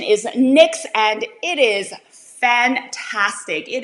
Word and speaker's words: NYX: the brand NYX NYX you can call it NYX if you want to the pronunciation is NYX and it is fantastic it is a fantastic